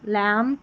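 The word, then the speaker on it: lamb: बी से पहले एम रहता है तो बी साइलेंट रहता है आखिर में। ठीक है? स्पेलिंग के लास्ट में। तो यहां पर देखिए बी नहीं पढ़ा जाएगा। तम लम कॉम तो यहां पर बी का उच्चारण नहीं है।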